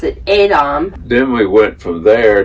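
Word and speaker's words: Edam: gouda style but it's from we would say edom but they pronounce it adam then we went from there to another town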